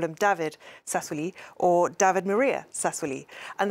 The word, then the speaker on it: Sassoli: I heard it say Sassoli. I'm putting the accent on the end, the new president of the European Parliament.